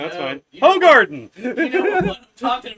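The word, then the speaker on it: Hoegaarden: Trying to see if there's like a translation to see exactly well, it's pronounced Hogarden, what it means, but it's not.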